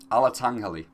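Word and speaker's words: Alatengheili: Alatangghali, that's how you say it.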